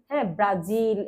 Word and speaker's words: ব্রাজিল: বারবার করে বলছি যে ইংরেজি উচ্চারণ ইংরেজি উচ্চারণের মত ব্রাজিল্যা ব্রাজিল এরকম হবে না ব্রাজিল ব্রাজিল ব্রাজিল হ্যা তারপরে হচ্ছে যুদ্ধ